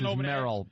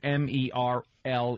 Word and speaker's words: Merle: l l e x there is no way this is Merill because it's m e r l e it's Merl it's Merl about merley my